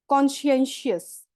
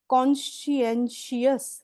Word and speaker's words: conscientious: screen के ऊपर है this is pronounce as कॉन्शेंशियस कॉन्शेंशियस repeat after me देखो सी ओ एन